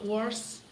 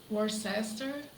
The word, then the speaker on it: Worcester: lucky better luck on his flight from uh worse Worcester then I had on that miserable aisle it